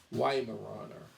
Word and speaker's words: Weimaraner: Weimar. Now I'm saying it in German, but it's pronounced in English Weimaraner, but Weimaraner.